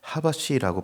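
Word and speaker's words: חבש: 1절에 마음이 상한 자를 고치는 것에서 고치다를 원어로 보니까 하바시라고 발음하는 것을 봅니다.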